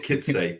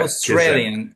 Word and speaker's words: Kicaj: Kitsay. It's a hard one. It's a hard one. Kicaj, Kicaj. It's Yeah, Kitsay.